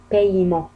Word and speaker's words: paiement: هناك أمثلة un paiement، الأ نطقت مثل الياء، هنايا الإي نطقت مثل الياء، الأ لم تنطق عفوا. paiement paiement.